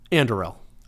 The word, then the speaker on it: Anduril: Anduril. I It's constantly mispronounced.